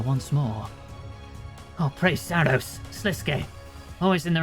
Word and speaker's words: Sliske: Actually, there's no e on the end, so I don't know. Should I Should I check out and pronounce that, too? It is Sliske. Okay. Sliske. I was right the second time.